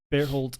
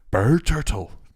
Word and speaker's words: Bertolt: So basically, there's a quick, brief flashback where Zeke is talking to Bertolt and Reinhardt. Bertolt. Oh my God. See, in Japanese, it sounds like Berturtle. If you hear it, it sounds like turtle.